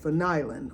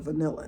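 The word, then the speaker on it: vanillin: Wood, oak wood actually connects cuz one of the uh compounds in vanilla beans is something called vanilin or vanilla. I call it vanilla, but it's called vanil.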